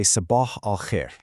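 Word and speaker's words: صباح الخير: For good morning, you say sabah al-khair.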